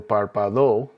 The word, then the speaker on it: párpado: Notice the written accent over the first A. That puts the emphasis on that syllable. So it's not el párpado, it's not el párpado. The accent is over that first A. So that's where you put your emphasis.